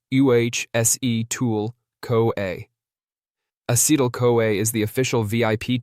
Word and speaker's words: acetyl-CoA: Together, they form a super important molecule called acetyl-CoA, pronounced UHSE-tool-CoA.